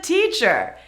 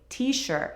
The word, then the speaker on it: teacher: is a teacher Teacher be sure to say the CH correctly many of you say it - softly t-shirt. It's not t-shirt That sounds like a t-shirt. I am a teacher not a t-shirt teacher teacher real estate